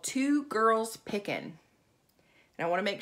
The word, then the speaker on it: Two Girls Pickin': She has a YouTube channel with her daughter, and it's called Two Girls Pickin'. And I want to make sure I say it correctly. It's the number two girls and then pickin', no G.